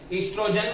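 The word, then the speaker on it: एस्ट्रोजन: इसके साथ साथ यहाँ पे एक हार्मोन भी बनता है जिसका नाम है ईस्ट्रोजन, ओ साइलेंट है यहाँ पे।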